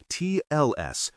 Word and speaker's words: TLS: Pronounce TLS crisp on each letter.